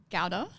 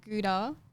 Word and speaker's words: Gowda: Is it So the way we say is Gowda. Gowda? But I believe the proper pronunciation is you would have to ask my dad. Yeah. But I believe it's more like Gowda. Gowda. So it's kind of, it's not Gouda, Yeah. but it's not Gowda.